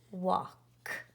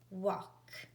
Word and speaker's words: walk: a l k ah the L is silent I don't hear the